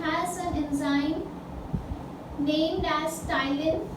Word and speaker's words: ptyalin: उसके बाद very important in saliva is that it हैज an enzyme named as ptyalin. P is silent, ptyalin और salivary amylase, ठीक है.